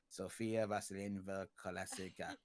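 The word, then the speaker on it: Sofya Vasilyevna Kovalevskaya: And Sophia, who has a really hard to pronounce Russian name, it goes something like Sophia Vasilyevna Kovalevskaya.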